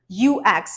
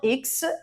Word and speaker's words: UX: word number four is ux designer ux not X it's ux designer word number five simil